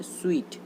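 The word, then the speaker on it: suite: सूट, इसको हम सूट पढ़ रहे होंगे, लेकिन ये सूट नहीं है, ये लिखा हुआ है स्वीट। इसका राइट प्रोनाउंसिएशन होता है स्वीट।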